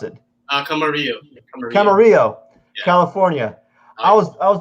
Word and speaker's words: Camarillo: How do you pronounce it? Camarillo.